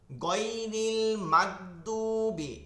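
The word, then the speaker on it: غَيْرِ الْمَغْضُوبِ: অনেকে কি করে আমরা গয়রিল মাগদুবি, এই যে উচ্চারণটা গয়রিল মাগদুবি, এইভাবে উচ্চারণটা হবে না, এইভাবে শক্ত হবে না, এগুলো নরম থাকে, গয়রিল মাগদুবি গয়রিল গয়ন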